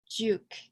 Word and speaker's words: Giauque: to my middle name Juke so it's pronounced Juke like a like a jukebox right so I am